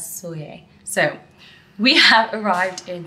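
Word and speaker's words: Sóller: soye I realized that earlier I was saying it wrong when I was saying Soleil because my friend Teddy speaks almost fluent Spanish and she was pronouncing it as soye so we have arrived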